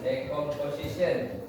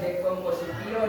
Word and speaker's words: decomposition: Yang pertama itu decomposition. Bacanya apa? Decomposition bukan dekomposition ya.